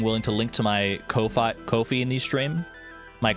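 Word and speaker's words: Ko-fi: I guess it would just be coffee cuz it's like the whole idea is like send me money to buy me a coffee.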